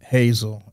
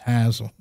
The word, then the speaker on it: Hasil Adkins: in Madison, West Virginia, you don't call him Hasil. His name is Hasil. That's the way it's pronounced there.